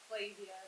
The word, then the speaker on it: Flavia: Now, Rachel, you're Belinda and Flavian. Is that how you pronounce it? Flavia. Flavia, or like Flavor Flav.